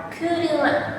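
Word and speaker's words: 車: Untuk kunyaminya apabila dia berdiri sendiri seperti ini, dia dibaca kuruma. Em apabila eh dia berdisin ini oleh kanji lain, dia dibaca onomi.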